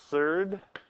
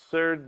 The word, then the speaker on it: surd: when you see the word surd surd means that like the square root of two is the third of two I don't know kind of fun just to say that word rhymes with GERD